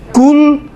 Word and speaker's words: قل: قل هو اللہ احد، قل نہیں ہے قل ہے۔ اس میں بھی انشاءاللہ